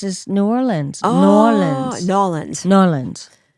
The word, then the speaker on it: New Orleans: Nawlins, like that. Nolans. That's how they say it.